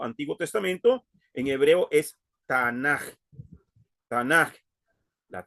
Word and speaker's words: Tanaj: Tanaj. Okay. Algunas veces se escribe con J aquí al final porque es por el sonido gutural que tiene.